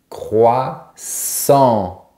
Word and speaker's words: croissant: est un peu difficile, la jonction entre k et r, comme le mot crocodile. Je reviens toujours au mot crocodile. Donc, on a croix et sur la fin, on a la syllabe en. Croissant.